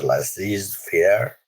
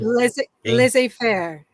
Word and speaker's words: laissez-faire: Laissez-faire. Laissez-faire. Laissez-faire. That's probably an Americanized pronunciation.